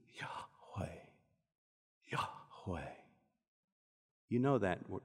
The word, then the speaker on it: Yahweh: You cannot properly speak it. It must be breathed. Yahweh, Yahweh.